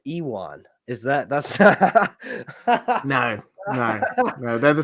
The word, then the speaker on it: Ewan: How do you say it's Ewan or Ewan? Ewan. Sorry, looks like who? Matt Smith looks like Ewan Mitchell. Ewan. Damon and Aemond on the TV show. Yeah. Ewan. I said Ewan.